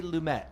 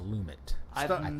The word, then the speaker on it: Lumet: Lum lumit right I I say lumet but I don't know I think that I looked it up one time for a podcast and it was lumit never known if I